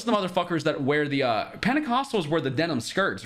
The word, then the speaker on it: Pentecostal: churches where it's like they call it Pentecostal. In my opinion, it's like dude, we say Pentecostal. Fire. Pentecostal in English. Okay. Pentecostal. I've never heard it pronounced with a Spanish accent.